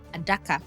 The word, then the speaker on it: Adaka: Generally our languages prefer open syllables to ara which is Portuguese for box became a daka.